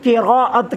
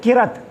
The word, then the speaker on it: قراءت: کی تصحیح کر دوں، بہت سے دوست جو ہے نا وہ تلفظ سے واقف نہیں ہوتے، وہ کہہ دیتے ہیں قرات۔ قرات لفظ نہیں ہے، یہ یاد رکھنا، قراءت لفظ ہے۔ قرات کا معنی بہت